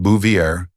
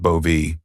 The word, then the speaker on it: Bouvier: It's pronounced Bouvier, not Bovie or he'd hissed across the table at a casual restaurant meet up with potential investors.